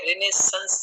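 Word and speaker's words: Renaissance: सानी की थी, तो उनमें किसी में रिनाशाह, किसी में रेनाइसेंस, पता नहीं क्या क्या थे. फिर काफी खोजबीन के बाद करेक्ट प्रोनाउंसिएशन हमें रिनेसेंस ज्यादा है.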